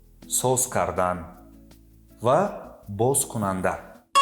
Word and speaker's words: Бозкунанда: Also, in the opening word, the sound З [z] is pronounced like С [s]. Бозкунанда (Opener).